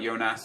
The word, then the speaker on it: Jonas: a huge fan of Jonas you know you or Jonas as he's actually pronounced you guys know I use players like yonas and like uh um